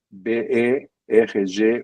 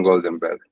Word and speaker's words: Goldenberg: o Goldenberg, aliás, por falar disso, eh, foi pela pronúncia brasileira do meu sobrenome que eu adotei, digamos assim, meu atelido para login até hoje, que é B E R G U E Berg Berg era exatamente a a marca brasileira na pronúncia de meu sobrenome, porque em castelhano diriam Goldenberg, né?